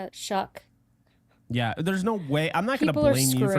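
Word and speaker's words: Shough: pronounce it right Shuck.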